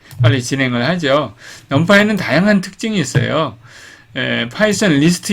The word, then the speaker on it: NumPy: 오늘은 넘파이를 배웁니다. 넘파이 처음 들어보나요? 넘파이는 이렇게 했습니다. 넘파이 Numerical Python이라는 뜻입니다. 우리가 3번에 걸쳐서 강의를 제가 진행을 하는데요. 오늘 첫 번째 시간이고요. 여기 넘파이라고 나오죠. 넘파이라고 읽습니다.